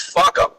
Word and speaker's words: FUCAM: And I was telling you guys that that acronym is FUCAM and is pronounced fuck 'em.